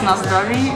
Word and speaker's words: na zdraví: Our drinks arrived, and Anna taught me the correct way to say cheers in Czech. In Czech Republic, you should do cheers, like it's na zdraví.